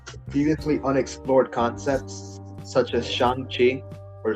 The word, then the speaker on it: Shang-Chi: Like other previously unexplored concepts such as Shang-Chi or Shang-Chi, as it's properly pronounced apparently, have been questioned with like the